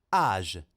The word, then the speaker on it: âge: Âge. âge, età, e muta, perché sentiamo la j finale, ci sarebbe anche l'accento circonflesso sulla A, ora qui non ce lo mettiamo.